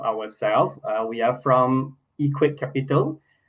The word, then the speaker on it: EQ8: Uh we are from Equate Capital. This EQ8 uh we pronounce as Equate. So we are from Equate Capital.